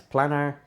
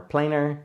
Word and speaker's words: Planar: have my carl zeiss planner or planer depending on who you talk to and how they pronounce it this is a 50